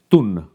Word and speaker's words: tun: on, is known as TUN. Now in english i would spell that as t-u-n, even though that could be read as tan or toon - but it's pronounced 'Thoonh'.